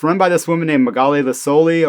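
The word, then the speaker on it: Magaly Licolli: And it's run by this woman named Magali Licoli, or I think she pronounces the K hard, so Magali Licoli.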